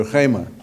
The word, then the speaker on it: rhema: A palavra é rema. Não é remer, como algumas pessoas pronunciam meu nome. Não é remer, é rema.